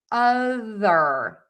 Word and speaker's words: other: Number 10, we have the word other and that is with that voiced th sound. So for that voiced th your tongue has to be out of your mouth so that air can move over the top of your tongue.